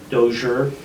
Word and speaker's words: Dozier: and kylie dozier and she is dozier so it's kind of an sh in there she goes yeah i